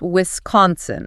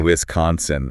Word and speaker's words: Wisconsin: you say it it's Wisconsin Wiscon that's s is pronounced like a z a Wisconsin okay Z two more